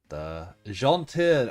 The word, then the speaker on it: gentil: Alouette, gentle alouette, gentil alouette, to say it properly. But it's spelled gentile.